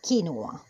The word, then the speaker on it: quinoa: The proper pronunciation for us in Latin America, because this seed is from Latin America, is quinoa.